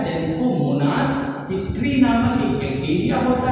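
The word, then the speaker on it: Xanthomonas: तो ये क्या है, ज़ैंथोमोनास है, ना कि एक्सैंथोमोनास है। तो एक्स है तो इसका मतलब एक्स नहीं, इसे पढ़ेंगे ज़ैंथोमोनास।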